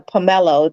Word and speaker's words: pomelo: Pomegranate, Pomelo? pomegranate. No, it's a pomelo.